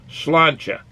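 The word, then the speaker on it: Sláinte: To say cheers in Irish most simply tells someone Slanty, S-L-A-N-T-E with a slash on it, which is pronounced slancha.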